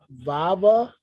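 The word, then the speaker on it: Vavá: roshunda Stadium Stockholm Swede I think it's pronounced vava and Pele each scored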